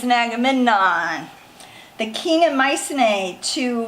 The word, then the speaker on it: Agamemnon: Okay, Menelaus convinced his brother Agamemnon.